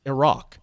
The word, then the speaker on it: Iraq: And it's Iraq as well, in case you're wondering.